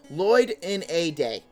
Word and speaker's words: Lloydinaday: what happens next oh how do i say my channel's name lloyd in a day that's how it's said if you want to